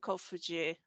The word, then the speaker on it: Kofuji: Is that how you pronounce it? Kofuji, yeah, that's it.